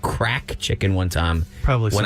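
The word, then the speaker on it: craic: Well, it's spelled crack with a Q, like crack, like CRAIQ.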